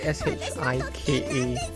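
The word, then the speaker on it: 鹿: 食べさせてあげるんですお兄様の妹は私なんですジェロニモさんは離れてください But yeah, the spelling for the pronunciation of deer in Japanese would be S-H-I-K-A instead. Shika.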